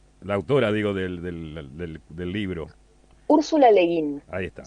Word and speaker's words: Úrsula Le Guin: Úrsula Le Guin, Ahí está. se escribe Úrsula, Le y sí, Guin con Guin. así como suena, digamos.